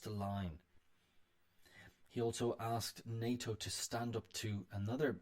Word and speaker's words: NATO: say the letters however in this case we say it like a word nato we don't say nato uh but this is an exception the elysee tenet the